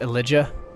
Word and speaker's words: Elijah: It's pronounced Elijah.